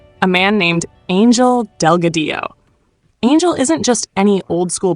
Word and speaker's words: Delgadillo: Delgadillo, Delgadillo. Double L in Spanish sounds like a Y.